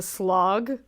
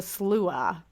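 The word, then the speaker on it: Sluagh: Now, it looks like it's pronounced the slog, but it's actually pronounced the slua.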